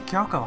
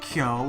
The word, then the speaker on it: Kyo: Lydia McKay plays Kyoko Honda, Toru's mother.